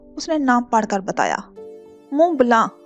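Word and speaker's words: Mont Blanc: मोंट ब्लांक, उसने नाम पढ़कर बताया। मुंह ब्लांक, अकम में गंभीर आवाज कुछ सख्ती से तसी की गई। टी और सी साइलेंट हैं।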